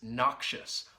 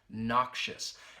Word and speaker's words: noxious: Next is noxious. Let's look at the pronunciation quickly. This adjective has two syllables. That first syllable, that knock, and then shus, that schwa sound.